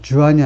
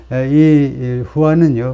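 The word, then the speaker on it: Juan: 이거죠 37년 동안이라 앤 후 스페인어는이를 h 발하죠 주한이 아니고 그래서 돈 주한이 아니고 돈 후하지 그 돈 바람둥이 그것도 돈 스펠링이 이렇 맞나 하여튼 예 주이 아니고 후이다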